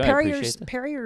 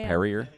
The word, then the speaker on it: Perrier: Parrier is not bubbly enough. You're saying it wrong. I think you know that right. Perrier.